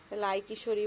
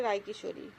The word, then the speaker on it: রাই কিশোরী: যেটা বাংলা ভাষায় বলে গ্রামীণ ল্যাঙ্গুয়েজ সেটা তো লাই কিশোরী বলে লাই কিশোরী ওরা বলে কিন্তু একচুয়ালি রায় কিশোরী রায় রায় ওদের ইংলিশ উচ্চারণটা এরকম হয় আমার ঠাকুরমা বলতো রায়